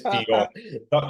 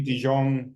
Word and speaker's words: De Jong: Okay, 90% of people pronounce it wrong, and you're one of the 90%. Sorry about that, Mahesh. It's De Jong. Okay. But fair play, you can call me De Jong.